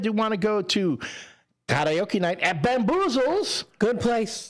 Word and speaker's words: karaoke: It's karaoke. It's Japanese. Some people say karaoke. I always say karaoke. I say karaoke. Because it's, again, Japanese. Like, okay, so this is showing what a snob I can be. If you go to Japan, they call it karaoke.